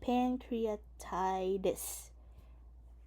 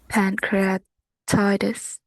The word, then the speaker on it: pancreatitis: So you notice a lot of this uh with the T Americans pronounce it like a D. So uh pancreatitis urine or what is it? Uh yeah or appendicitis. A pancreatitis and appendicitis.